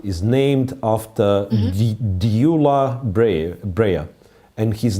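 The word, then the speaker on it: Gyula: but pronoun pronounced as dula have no explanation no it starts with g g yeah but you pronounce like d d d yeah so it's g g y and it's pronounced like d doula for whatever reason i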